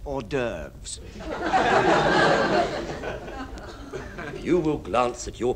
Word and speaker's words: hors d'oeuvres: for starters oh trust horses doofus actually chief that's pronounced hors d'oeuvres you will glance at